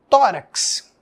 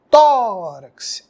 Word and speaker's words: tórax: eu vou pintar pared não ninguém fala assim tórax tórax exemplo de paroxítona parede um outro exemplo